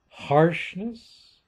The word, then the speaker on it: harshness: Okay, accent on the second syllable, harshness, accent on the first syllable, offense, accent on the second syllable, and so on.